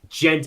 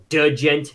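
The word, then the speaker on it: djent: the what here come on it's it's not pronounced gent it's pronounced dent it's D it I'd put that in the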